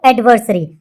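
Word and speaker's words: adversary: क्या बोलते हैं इसको, एडवर्सरी। अब एडवर्सरी की प्रोनाउंसिएशन किस जैसी लग रही है आपको, एनिवर्सरी जैसी लग रही है ना।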